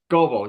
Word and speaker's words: Gobel: Yeah, and it's Gobel, you said, right? Not I Global, mispronounced it.